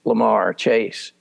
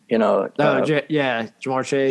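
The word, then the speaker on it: Ja'Marr Chase: The only thing that could upend that Cincinnati train is how badly hurt is Lamar Chase. Jamar Chase.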